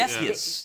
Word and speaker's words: Defus: It's not Dreyfus. I looked for the R and I don't see it. So Defus. Defus.